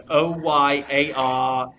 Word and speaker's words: Oyarzabal: Oyazabal, so it's Oyarzabal.